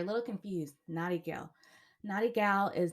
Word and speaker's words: Natty Gyal: little confused naughty girl naughty gal is not pronounced how it's spelled it's spelled n-a-t-t-y-g-y-a-l uh